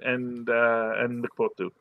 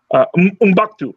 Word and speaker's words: M'Baku: I'm gonna ship the heck out of Shuri and Mkbudu. And I'm pronouncing his name wrong. I know. M'Baku.